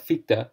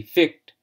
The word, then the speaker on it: Fichte: for those pointing towards a correction in my pronunciation of FITA which I pronounced in the last lecture to be fict I hope that I